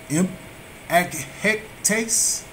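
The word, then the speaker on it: ἐμπαίκτης: We have scoffers, and it is G 1703, Greek 1703, and it is impahectes, and it is a derider.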